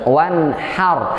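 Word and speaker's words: وانحر: Jadi kalau kita bacanya fasalli li rabbika wanhar, maka sholatlah untuk Tuhanmu dan bentaklah Allah. Wah, itu kurang ajar jadinya. Jadi Allah dibentak, Allah diusir. Nauzubillah. Maka bacanya harus wanhar, hanya kecil. Kalau hanya kecil itu artinya berkorban. Hari Idul Kurban disebut dengan Yaumun Nahri, hari berkurban.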